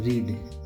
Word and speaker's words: read: तो पहला हमारा है रीड। रीड मीन्स पढ़ना। सेकंड फॉर्म को रेड बोलते हैं, लेकिन रीड ही लिखा जाता है।